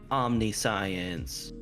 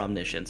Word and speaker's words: omniscience: whales for a while it's omnis science or omniscience if you want to pronounce it correctly and be like a